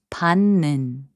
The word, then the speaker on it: 받는: And 받는, which means receiving, is pronounced as 받는.